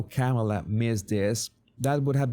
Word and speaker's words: Kamala: Because in fact, some of you told me back then when I had this trouble saying her name, so it's said like Pamela, but the problem is that Pamela would say Pamela in Spanish.